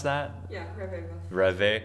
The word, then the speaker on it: ReVe: Yeah, Reve. Reve. Well, like red velvet, but red.